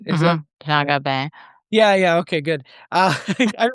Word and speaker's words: Jean Gabin: Jean Gabin, or right? Is that Mhm. Jean Gabin.